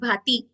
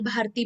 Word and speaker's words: भाति: Okay, kapalbhati में क्या होता है, कपाल प्लस भाति। बहुत जन इसको ना, अभी तक बड़े लोगों के मुंह से भी आप सुनोगे, वो लोग इसको सही प्रोनाउंस भी नहीं करते, कपाल भारती बोलते। तो भारती नहीं, भाती।